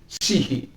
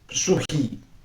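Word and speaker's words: ψυχή: Sihi itu orang kalau kata suhi, tapi kalau bacanya dalam bahasa Yunani yang benar itu adalah sihi, sihi, jadi sihi.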